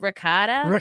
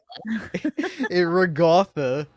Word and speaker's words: ricotta: How do you pronounce it? Isn't it ricotta? Yeah. Okay. Okay. I say ricotta weird. I can't help it. It just comes out naturally. Regatha. That's how I say.